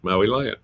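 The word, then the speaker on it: Mauilion: Maui, like the island I grew up on. Maui. Oh. Lion, like the big cat. Maui lion.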